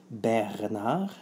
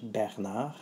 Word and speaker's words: Bernard: So that's how you pronounce in English Bernard. In French it's Bernard. So thank you for watching.